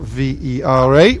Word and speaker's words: Vera: We can refer to this as the Vera end of the ground, Vera local village, spelt V-E-R-A, which English speakers might wish to pronounce a different way to Vera, but that's the local name.